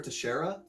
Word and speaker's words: Teixeira: Glover, Xterra, how do you say it? Butcher it, go for it. Glover Teixeira versus Anthony Smith.